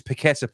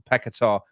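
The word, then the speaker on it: Paquetá: knows that say pakistar he says it's paquetta please not pecatar Danny tell us tell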